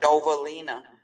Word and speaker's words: Dovalina: Okay, we're gonna forego the business meeting till after our speaker's presentation, and our speaker tonight is Dovalina. Did I say it right? Dovalina. Dovalina, thank you.